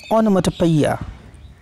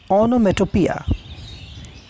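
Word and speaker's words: onomatopoeia: ये जो वर्ड है इसका ब्रिटिश प्रोनाउंसिएशन है ओनोमेटोपिया, क्या है ओनोमेटोपिया, इसका अमेरिकन प्रोनाउंसिएशन है ओनोमेटोपिया, ठीक है।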